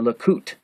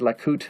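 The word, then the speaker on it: Lukut: The Kayan tattoos of Borneo, who were always female, tattooed a design called a Lakut, L-U-K-U-T, or antique bead, on the wrist of men to prevent the loss of their soul.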